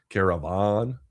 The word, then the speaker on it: Karavan: It's spelled Karavan, Caravan.